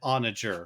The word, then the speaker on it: onager: Like, is it pronounced Anagar? Is that yeah, so I had to look that is up. that like a donkey creature? Yeah, no, so I would have said onager.